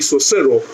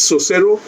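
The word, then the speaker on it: Saussure: linguist also said oh I don't know how to pronounce the word it's basically so servo they say it's so cero and there is another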